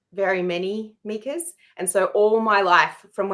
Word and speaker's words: Mieke: Yeah, so it's Mieke rhymes with sneaker, and I will explain the name.